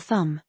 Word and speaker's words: thumb: Yes, the B in doubt or thumb. You don't hear the B sound at all.